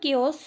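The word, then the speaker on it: chaos: इन द केओस बोला जाता है, यहाँ पर दिया भी गया है कि इसे हम केओस प्रोनाउंस करेंगे।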